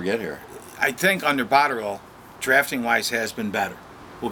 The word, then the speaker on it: Botterill: By the way, it's Botterill. Please forget the E. He gets very upset. It's not Botterill. It's Botterill. Botterill? Botterill. The E silent? The E is silent.